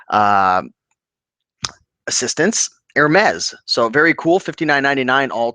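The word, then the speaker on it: Hermès: H uh silent AES the H is silent Okay cool so California picking thank you for the pronunciation uh assistance Hermes so very cool $59.99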